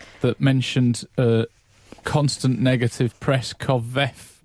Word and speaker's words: covfefe: With his tweet that mentioned constant negative press covfefe. Covfefe. You say covfefe. Covfefe. Covfefe. I say Gaddafi. Covfefe. I feel like the E is silent.